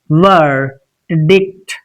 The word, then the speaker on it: verdict: It's verdict.